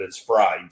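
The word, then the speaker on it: Frey'd: So it's just like Kentucky Fried Chicken. It's totally totally fried, which a lot of people pronounce it fray, but it's fried.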